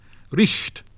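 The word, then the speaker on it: riht: The letter H in some positions represented a strong sound like that of CH in modern German. Richt, right. Thochte, thought.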